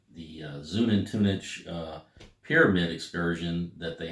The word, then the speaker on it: Xunantunich: talk about the uh the zunen tunic I believe is the the name the way you pronounce this the way the tour guide pronounced it the zoom in Tunis uh pyramid Excursion that